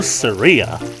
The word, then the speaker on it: Saria: For those of you who are probably saying that it's actually pronounced Saria, well, screw you guys. I basically always pronounce it as Saria because, like, the closest thing that we have in our dialect is Maria, so that's pretty much how I pronounce it.